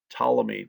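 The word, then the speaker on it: Ptolemy: center of the universe starts with a p a silent P tmy taught the geocentric theory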